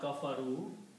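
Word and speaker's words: كَفَرُوا: If I add a vowel at the end of this word, kafa, ru, and put an alif with a circle. Alif with a circle means don't read the alif.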